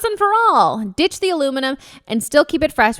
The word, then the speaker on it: aluminium: Guys, I've been hearing so much about aluminum, or if you're British, aluminium, which is one of my favorite ways that like the Brits say things differently than us.